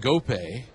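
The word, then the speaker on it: Ngoepe: out here's gift and GOP Pirates short stop and the nine hitter and GOP is spelled NG g o e p we've seen him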